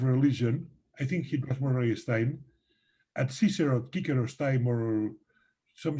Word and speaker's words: Murray Stein: Do you pronounce that way? Yes, Murray Stein.